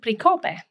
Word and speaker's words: Pricope: P, so that's perfectly acceptable, but you would pronounce it Pricope, Pricope. Okay, that's how it is.